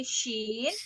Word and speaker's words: ش: pergi dulu bentar ya Shin i bukan Sin ya tapi Shin Shin Shin Yain i